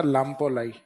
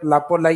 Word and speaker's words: लाम्पोलाई: वैसे सही नाम है इसका लाम्पोलाई क्या लाई लाम्पोलाई तो यह कई बार इस आधे मैक को साइलेंट करके भी लिख देते हैं तो समझ जाओगे आप लापोलाई या लामपोलाई तो लापोलाई इज द